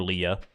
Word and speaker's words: Leah: Someone in the comments of the last VOD did tell me that that both Leah and Leah are acceptable ways to pronounce that name. It just kind of depends on like where you hail from. And I guess I'm just the oddball in North America who says it that way.